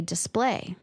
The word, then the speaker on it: display: Well, I would normally put the stress on the second syllable and say display.